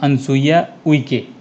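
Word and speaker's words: Anusuiya Uikey: Proper pronunciation तो यही है, अनसुईया उइके।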